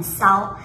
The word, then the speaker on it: 烧: 当然她的发音不是说很烧，而是说很骚，因为新加坡人吃丝不分，所以在